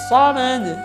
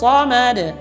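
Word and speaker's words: الصَّمَد: Dia membacanya dengan Allahus samad. Mad. Ini salah. Harusnya ma dengan vokal A, tidak boleh dengan me. Maka yang benar adalah Allahus samad.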